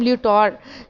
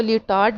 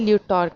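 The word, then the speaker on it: Lyotard: और स्टूडेंट्स इनके नाम को हम लियोटार्ड जो है वो प्रोनाउंस करेंगे, क्योंकि डी को फ्रेंच में प्रोनाउंस नहीं करते, सो हम इसको लियोटार्ड नहीं लियोटार्ड कहेंगे।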